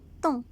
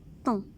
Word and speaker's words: thon: T avec on, thon. On ne prononce pas H. Un thon.